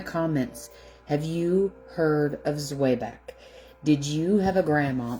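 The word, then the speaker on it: Zwieback: Now, I pronounce it Zwiebach because that's just the way I grew up pronouncing it.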